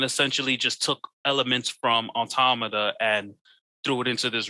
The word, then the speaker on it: Automata: no because bro like they're hard to pronounce because it's autumnal automata like nah but it's near on time andromeda no automata if you listen i